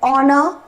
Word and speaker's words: honor: h are consonant and h is silent so the actual sound is a fall o like an ah an honor or an honest person